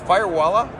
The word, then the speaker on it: Firewalla: Firewalla? Did I pronounce that right? Okay, that's perfect. Yeah. So there's Firewalla.